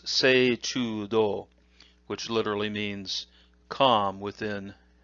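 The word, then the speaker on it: 動: The onyomi is do, with a long u sound. Kunyomi is ugoku.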